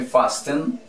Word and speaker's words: fasten: Vamos con esta otra, sujetar, sería, se escribe fasten, ¿cómo se pronuncia?